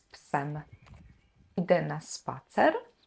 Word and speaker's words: psem: We're losing this main syllable, we're losing the main vowel. So pies now becomes shortened, ps, plus the ending, psem.